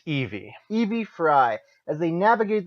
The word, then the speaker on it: Evie: The story follows twins Jacob and how would you pronounce this? Evie or Evi? Let's see here. I would pronounce that Evie.